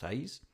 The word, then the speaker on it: Hayes: I presume it's Hayes. It's spelt like it would be pronounced Hayes.